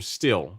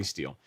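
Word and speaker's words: Stihl: am partial to the tools from still right or still or steel or however you say it how are you pronouncing some people told me it's steel so i'll say steel um i really like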